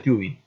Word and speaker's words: tubing: Se escribe tubing, se pronuncia tubing.